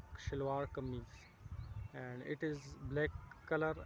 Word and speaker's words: shalwar kameez: And this the name of these clothes are, it is called and pronounced like shalwar kameez, and it is black color, and I love black and white, both colors, and I like it very, both colors.